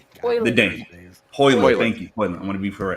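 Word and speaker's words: Højlund: How you pronounce it? Rasmus? I got first names. The Dane. Hoyland.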